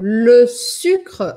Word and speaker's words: le sucre: Elisa, como pronuncia le sucre, Cécel? Le sucre, açúcar, em francês, a gente diz le sucre.